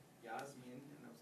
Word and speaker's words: Yasmin: name because I said Yasmin with an E sound. I was rolling with Spanish pronunciation. She said, that's not right. And I said, will you say it for me? And she said, Yasmin.